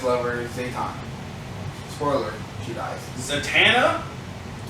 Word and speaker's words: Zatanna: Zatanna? I say Zaytan. You say it wrong. Well, because it's Anna at the end, so Zaytan.